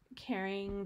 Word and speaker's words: Caren: Caring, this is Caren. I always have a good place in my heart for Caren. It's supposed to be pronounced caring, cute, right?